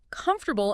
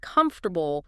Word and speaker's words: comfortable: I remember a student who always stressed the wrong syllable in comfortable instead of comfortable, small thing, but it sounded awkward.